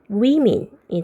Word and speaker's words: women: woman 여기도 woman의 A가 E로 바뀌는데 발음이 바뀌어요. women이 되겠고요.